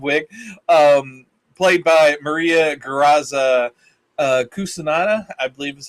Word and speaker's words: Cucinotta: Cucinotta, I believe is how you pronounce her name.